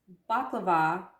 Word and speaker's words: baklava: so through their nomenclature it's pronounced baklava in the rest of the world but throughout the mediterranean